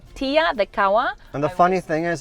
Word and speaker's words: Kaua: And is that how it's pronounced? Kaua? Mhm. Yeah, Kaua. Kaua.